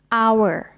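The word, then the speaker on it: hour: แปล ว่า ชั่วโมง ค่ะ คำ นี้ เรา จะ ไม่ ออก เสียง เป็น เหอะ แต่ เรา จะ ออก เสียง เป็น Our นะ คะ อา มิ เนท manage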